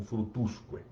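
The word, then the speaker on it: fructusque: A única diferença é a expressão, a forma de expressar, e a modificação da tônica, que em vez de ficar em fructus, vai transferir-se para a sílaba antecedente e ficará como frutusque.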